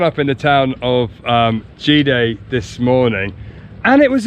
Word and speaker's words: Cide: We have woken up here in the town of Gide? Gide, but it's spelt Side. But in Turkey the C is pronounced J, we think, unless it's got a squiggle, and then it's Ch.